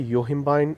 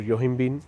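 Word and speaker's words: yohimbine: तीसरा सबसे beneficial ingredient fat burner के अंदर आता है योहिम्बाइन और योहिम्बिन। अगेन इसको अलग अलग तरीके से प्रोनाउंस किया जा सकता है।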